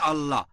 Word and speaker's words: আল্লাহ: একটা বৈশিষ্ট্যের নাম হচ্ছে আল্লাহ তারা লেখে আই এল এ তবে উচ্চারণের সময় আমরা তাদের উচ্চারণ করতে শুনি আল্লাহ আশা করি উত্তরটা পেয়েছেন